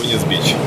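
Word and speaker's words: Venice Beach: И немного прогуляться в Венес Бич. Я надеюсь, я правильно произношу. Ударение сделал. Не бич. Господи.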